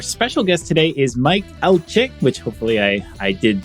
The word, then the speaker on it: Alche: everyone and our special guest today is Mike alchik which hopefully I I did Justice there to the pronunciation uh Mike welcome to react Roundup why